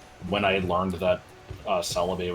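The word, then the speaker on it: Celebi: I learned that uh Celaby was not pronounced as Calib.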